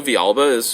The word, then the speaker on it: Villalba: people telling me that I was stupid for pronouncing it that way. That's how it would be said there. But also Villalba is completely acceptable.